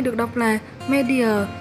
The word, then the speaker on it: media: Và danh từ số 2 được đọc là media, nhấn âm 1. Mình xin nói lại là danh từ số 1 đọc là otitis, nhấn âm 2. Và danh từ số 2 được đọc là media, nhấn âm 1.